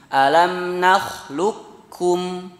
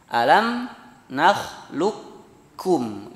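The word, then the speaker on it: أَلَمْ نَخْلُقْكُمْ: Alam nakhluqukum, ya, langsung ke kaf bacanya. Alam nakhluqukum, lukum langsung ke kaf. Tidak ada sisa qaf di sana, ya.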